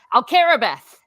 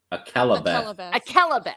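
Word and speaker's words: Akallabêth: Actually, like I said, I couldn't even remember Alcarabeth. Akalabeth. Okay, you see there. You pronounce it in Chinese.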